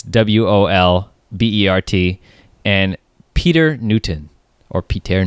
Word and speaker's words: Volbert: to be Ronnie Moorings, Anke Volbert, I think that's how you say it. It's Wolbert, and Peter Newton, or Peter Newton.